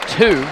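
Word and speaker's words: Tie: traveling with it Andre 2 last name is spelled TI e but the coach has helped me out told me that is pronounced just like the number two in the front court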